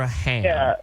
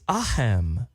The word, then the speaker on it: aham: It's aham. You pronounce the A with it is aham.